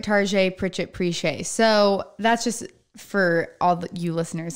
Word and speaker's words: Pritchétt: but that's okay but it's kind of like Target RJ Pritchett preesh a so that's just for